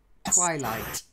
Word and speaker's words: twilight: Then again, stress, twilight.